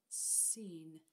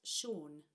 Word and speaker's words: Sean: My, brother, my brother, my brother, seen. It does look like seen, Jockle Jockle Button. You've read that out exactly right, except that we pronounce that Sean.